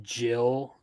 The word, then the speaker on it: Gil: Either way, it's pronounced Jill. Because I don't. Well, there actually there is. Never mind. Ignore me. Yeah, he's called Jill for some reason, but